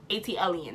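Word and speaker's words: ATLiens: AT-Alien? AT-Alien. That's how you pronounce it.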